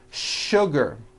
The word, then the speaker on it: sugar: words in English that are written with the letter S but are pronounced with the SH sound words like sugar and sure and to